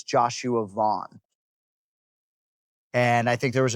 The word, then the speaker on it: Van: All of a sudden the champ, we got all these fight-ending calls, Joshua Van, and it's Vaughn.